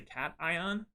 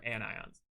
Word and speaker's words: cation: A positive ion is called a cation, not a cation. This is a cation. Think of an actual cats when you're pronouncing this, a cation, and this is an anion. It looks like anti, which sounds negative.